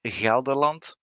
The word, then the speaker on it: Gelderland: true right on okay the tier two cruiser is gelderland which is again a soft g okay the tier three